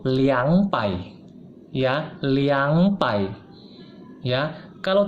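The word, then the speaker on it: 两百: betul bukan repair ya khusus untuk dua itu bukan ngomong lebay yang betul itu liang pai ya liang pai ya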